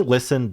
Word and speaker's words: listen: Listen just doesn't to me listen doesn't have that T in it. I don't know. I don't say the T at all.